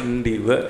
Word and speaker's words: Ndiwek: Cak Bulawi dari Ceweng Ndiwek. Cak Bulawi dari Ceweng Ndiwek. Ya, tulisannya Diwek tapi kita sebagai orang dekat Jombang ya, rumahnya Pak Ali juga dekat Jombang, Ndiwek bacanya.